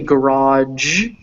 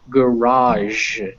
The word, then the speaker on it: garage: this is raw and some people say garage which is why they have this d here because then it's b g but most people don't pronounce it with that g so this sound right here is j so garage garage garage so really quick are